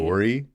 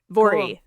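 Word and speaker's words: Voirrey: Vory. I looked up how to to say it. It's V O I R R E Y. Oh, yeah. So, rhymes with Lori. Vory.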